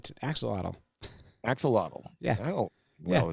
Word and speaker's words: axolotl: An axolotl? No, John, it's axolotl.